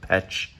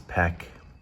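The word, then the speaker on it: Pech: It looks like it's spelled Petch, but I believe it's peck.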